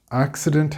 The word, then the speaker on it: accident: Accident has three syllables, accident. It's not the-dent, accident, no. Accident.